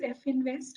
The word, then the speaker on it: Religare Finvest: and CRO for Relicare F Invest. Is it pronounced as F Invest or Finvest or what? It is Finvest, Finvest?